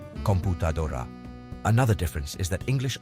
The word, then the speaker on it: computadora: in English computer while its Spanish counterpart computer follows the typical Rule and stresses the second to last syllable computadora another difference is that